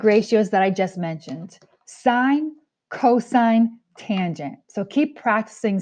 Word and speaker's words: sine: words sine cosine tangent the number one mistake that i'll hear kids say is they'll pronounce this as sin no in math this is sine sine cosine tangent now